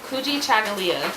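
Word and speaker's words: Kujichagulia: which means Unity um the second day is kuji chagala that's how you pronounce that um which means self-determination ujima is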